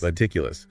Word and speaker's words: meticulous: The word is meticulous. Meticulous. Four syllables.